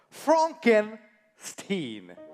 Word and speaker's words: Frankenstein: That's Frankenstein. My name. It's pronounced Frankenstein.